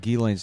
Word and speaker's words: Ghislaine: What I like about Ghislaine's name is the S is silent. Yeah.